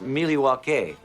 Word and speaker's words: Milwaukee: Actually, it's pronounced Milwaukee, which is Algonquin for the good land.